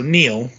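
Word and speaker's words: Neal: I can think of because of the way it's spelled NE a l okay so Neil and then we get Gibson okay the only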